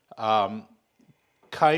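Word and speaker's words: ไก่: I learned how to do the Tom Kha Gai. I also learned how to make Tom Yum Goong, which is another Thai soup that's very classic. Kai means chicken, or gai, depending on how you say it.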